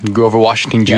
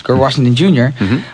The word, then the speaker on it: Grover Washington Jr.: And just like Grover, I keep saying his name wrong. What's his name again? Grover Washington Jr. Yes, Grover Washington Jr.